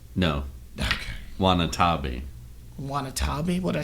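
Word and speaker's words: Watanabe: And Ken Wanatobi being like the one at the end. Did I say his name right? No. Okay. Wanatabi.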